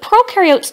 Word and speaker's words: prokaryote: membrane-bound organelles, and prokaryote, the pro rhymes with no, and they do not have membrane-bound organelles.